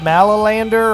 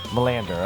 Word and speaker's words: Melander: dude your band huh am i pronouncing it right is it mallow Lander or how do you pronounce it Melander okay all right that's